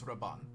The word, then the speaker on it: Raban: His name is Raban. Raban? How do you spell that?